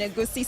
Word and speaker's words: egusi: You seem to fit the part so well, transitioning into Nigerian culture and eating pounded yam and egusi soup. Oh, egusi soup? Or what? How do you pronounce it again?